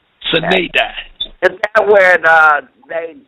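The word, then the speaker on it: sine die: S-I-N-E, one word, D-I-E, Sinaidi. That's how I pronounce it, Sinaidi.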